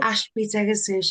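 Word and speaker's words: Ashby-de-la-Zouch: in Ashby, is it Delazouche? How do you say it? Yes, Or yes, Zouch? Ashby Degazouche. I think it's twinned with somewhere in France, so that's where Yeah.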